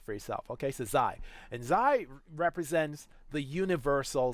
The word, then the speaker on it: Xi: It's called XI. That's how you spell it. And as far as I can recall, and you want to double check this on Google, get a tool to pronounce it, but Xi. That's the way I believe you do it.